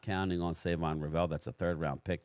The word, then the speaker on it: Shavon: It's actually spelled S-H, but he pronounces it Savon. So it's not Savon, it's Shavon.